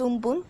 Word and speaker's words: Amphan: The super cyclonic storm Amphan, which is pronounced as Umpun, over West Central Bay of Bengal moved nearly